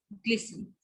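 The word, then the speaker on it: glisten: जैसे लिसन, फासन एंड ग्लिसन.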